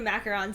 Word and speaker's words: macaron: Oh man, and I took 2 bites of your macaron too.